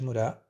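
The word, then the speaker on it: ムラ: A formação da comunidade murá, essa pronúncia aqui é murá, né? Aí fica esquisito falar em português e uma palavra japonesa no meio. Vai ficar meio esquisito, mas essa é a pronúncia certa.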